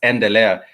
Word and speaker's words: endelea: It starts with the letter E, and therefore it's pronounced as endelea. Let me give an example of an English word that starts with the letter E. For example, educate. Educate.